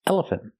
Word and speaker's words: elephant: elephant planter and pronunciation we don't say elephant planter it's elephant elephant the last syllable is not stressed we do not say